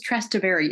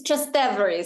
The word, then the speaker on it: Trastevere: You're, so I'll know how to pronounce It's Trastevere, so it's the Trastevere. So I was putting the, Trastevere. across the river is what the name is.